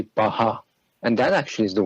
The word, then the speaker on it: Paha: the last two syllables, it has P-A-H-A-H, and that would be Baha.